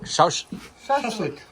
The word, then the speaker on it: shashlik: Wine, shashlik, how do you say? Shashlik.